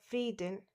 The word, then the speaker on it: Frieden: So whenever I and E comes after I, it becomes E. For example, V means how, and the next is der Frieden, which means peace, and the last is die Liebe, which means love.